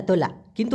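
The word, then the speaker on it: tolak: এইভাবে বলে তোলা তোলা তোলা কিন্তু লাস্টে একটা ক আছে যেটা ছোট্ট করে উচ্চারণ করতে হয় মূলত উচ্চারণটা হবে তোলা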